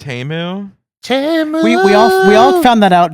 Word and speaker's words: Temu: pronounced Temu.